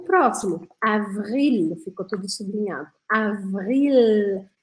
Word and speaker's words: avril: O próximo, avril, ficou tudo sublinhado. Avril. Olha esse L aqui, tem que fazer o L bem redondinho, não pode engolir